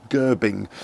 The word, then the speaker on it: Gerbing: I always say Gerbing, I always mispronounce that for some reason, but there we go, Gerbing.